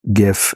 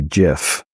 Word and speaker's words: GIF: It's usually pronounced GIF in America or US, but usually GIF with a soft G in the UK.